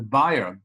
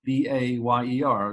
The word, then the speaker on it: Bayer: about chemical warfare the buyer B A ye R is pronounced in America Bayer the buyer Fab the